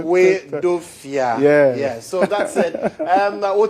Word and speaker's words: Hoedoafia: Yes, 3 syllables. Break it down. Well, Hoedoafia.